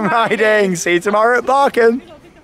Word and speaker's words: Bakken: It's not Bakken, it's Barken.